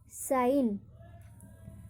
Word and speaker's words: sign: अब जी का, कि कब हम जी का उच्चारण नहीं करते हैं, तो शब्द के प्रारंभ में या अंत में GN हो तो वहाँ पर जी का उच्चारण नहीं होता है।